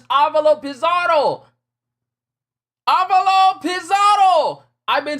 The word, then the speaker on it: Avalo Pizarro: So I've been saying it wrong all these years. I've been saying Avalo Pizarro wrong all these years. It's Avalo Pizarro.